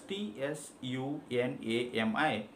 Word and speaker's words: tsunami: call it sr similarly when it comes to the letter tsunami the japanese word we just write the letter write the spelling of the word as t s u n a m i but we just pronounce it as tsunami we do not call it tsunami similarly there are so